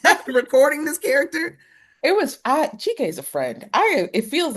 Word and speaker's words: Chike: And Miss, let me know if I'm pronouncing the actor, your lead character, your lead actor. Is it Chike? Chike, yeah.